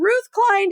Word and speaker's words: Ruth Klein: have a little panic attack over can I pronounce their name? And so I'm super happy to welcome Ruth Klein to the show, you guys, today.